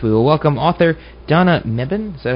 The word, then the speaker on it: Mebane: Okie doke, and next Monday, that's July 20th, we will welcome author Donna Mebane. Is that how it's pronounced?